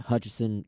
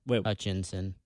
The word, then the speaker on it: Hutchinson: anyway yeah that's a we've gotten his name wrong oh it's hutchinson huh Hutchinson was the name of the school yeah yeah sure said they said Hutchison yeah but that would